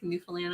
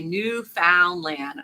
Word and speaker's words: Newfoundland: He used to say Newfoundland. I'm like, stop calling it Newfoundland. The Newfoundland. It's Newfoundland. Just like the old found land.